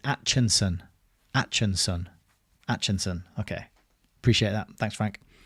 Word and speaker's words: Acheson: Atchison. Okay, Atchison. Yeah, that makes sense. Yeah, looking at it now, I can see why it would be Atchison and not Acheson. But it does look like ache.